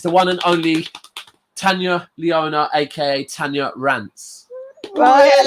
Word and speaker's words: Tanya: It's Tanya, not Tanya.